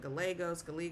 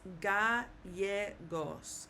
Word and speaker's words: Gallegos: I have a double L in my name, which in the United States, people would pronounce it gallegos, lots of different ways, but it's gallegos, gallegos.